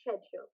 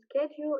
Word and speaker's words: schedule: follow by the way the word schedule can be pronounced in different ways you can say schedule or schedule schedule is american version and schedule it's british version so you can also